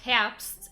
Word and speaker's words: Herbst: It's pronounced Herbst, like autumn.